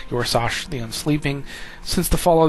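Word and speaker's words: Yor'sahj: So, uh, uh, Yoros, I'm assuming that's how that's said. Your is is pronounced, I should say, Yorsash, the Unsleeping.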